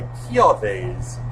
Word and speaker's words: Kiawe: and is presumably why Kiawe's, and I am now aware that that is the correct pronunciation, Marowak has a dancing trial.